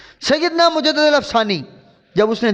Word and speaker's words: مجدد: اے مجدد الفسانی۔ اچھا، یہ لفظ مجدد یاد رکھ لیں تلفظ کو، لوگ مجدد پڑھ دیتے ہیں، اصل لفظ ہے مجدد۔ مجدد کا مطلب ہوتا